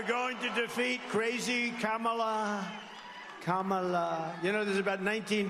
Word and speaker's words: Kamala: here and we're going to defeat crazy CA Kamala you know there's about 19 different ways of saying it she only likes three Biden never even came close ham she ham no it's Kamala it's so disgraceful and disgusting to me that